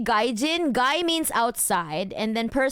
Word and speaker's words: gaijin: No, I think Mark, I think you meant gaijin. Gaijin. Like the way you spell it is so Russian though. It's actually romanized as gaijin.